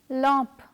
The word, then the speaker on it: lampe: For example, ambulance, jambon, lampe. Therefore, the following letter combination AN and AM have the same ah sound.